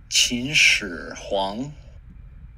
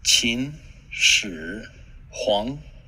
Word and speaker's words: Qin Shi Huang: And we're going to learn how to pronounce his name. Qin Shi Huang. Qin Shi Huang. Qin Shi Huang.